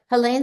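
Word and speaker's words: Hélène: Okay, Helene Cixous. I think I say the name wrong.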